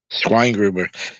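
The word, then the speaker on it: Schweingruber: state of Virginia so how does that is that pronounced again schwein Gruber swine grber you sound like a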